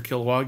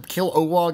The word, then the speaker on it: Kilowog: I love the character Kilowog. He's really fun. Is it Kil-O-Wog? Because they call him Kil-O-Wog and also just Kilowog. I think they just kind of swallowed that middle syllable. It's Kilowog. Kilowog.